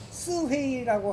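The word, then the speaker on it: 四會: 그 중국 발음으로 뭐라 그래요? 스회이라고 하는 곳에 깊은 산중으로 들어가요.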